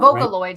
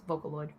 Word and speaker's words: Vocaloid: potentially a unicorn horn Vocaloid sorry I pronounced that wrong it's Vocaloid oh that's green oh